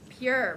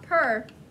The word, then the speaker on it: pure: so purr and blue pure remember e at the end makes that a long u sound so it's not per lovely like so purr